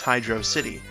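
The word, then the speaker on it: Hydrocity: the game and everything it is supposed to be pronounced hydro city like with a space I don't know what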